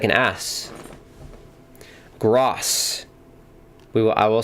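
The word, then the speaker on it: Groß: give him a yellow that letter in German is pronounced with an S so his name is not is gross not Gro thank you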